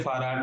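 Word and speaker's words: Fahrrad: सर तो जैसे फाराड में आर 2 बार आया है, तो उसमें पहले वाला आर साइलेंट हो गया, दूसरे वाले आर को प्रोनाउंस किया है हमने। पहले वाले में तो इसका लॉजिक आ गया, ये वाला। Okay sir. तो ये हल्का सा ना साइलेंट होता है, जैसे मेयर, एर पूरा नहीं बोलते, मेयर, डियर, मियर, नाटुअर, फूटुअर, कैसा साउंड चलता है। तो फार, फाराड।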